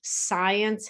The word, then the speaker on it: science: Science has a C, we don't pronounce, as well as the E.